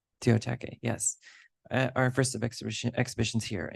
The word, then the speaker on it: Teotihuacan: Teotihuacan, yes.